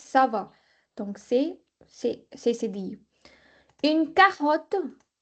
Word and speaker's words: ça va: Ça va. CCD. CCD. C'est dit. Ça va. It's not kava, it's ça va.